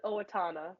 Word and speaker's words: Owatonna: says that you're from hopefully I'm not mispronouncing this town name Owatonna Minnesota that's really close it was Owatonna all right all right